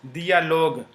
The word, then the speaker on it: dialogue: So in dialogue, you will not pronounce u. It is just to say that j is pronounced as g and not j, okay. So this is pronounced dialogue, okay.